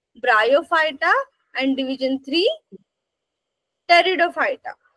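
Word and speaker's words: Pteridophyta: ब्रायोफायटा आणि division three टेरिडोफायटा त्या spelling मध्ये बघून म्हणाल तुम्ही स्टार्टिंग पीने होते म टेरिडोफायटा कस तर त्याचा टी सायलेंट आहे त्याचा उच्चार काय करणार आहोत टेरिडो फायटा सायलेंट आहे टेरिडो फायटा पाहिल लक्षात यस सो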